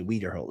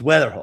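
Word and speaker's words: Wetherholt: I always want to say Weatherhol. It's Weatherhole.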